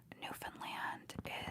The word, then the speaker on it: Newfoundland: Newfoundland is in Canada. New Found Land. That's how you spell it. New Found Land, but it's pronounced Newfoundland, but it's in Canada.